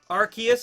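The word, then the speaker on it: Arceus: it's all good archus is the correct pronunciation there's so many though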